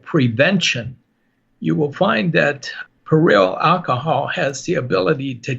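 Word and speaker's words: perillyl: there is inside lavender a chemotherapy agent called peril alcohol that's spelled p e r i l l y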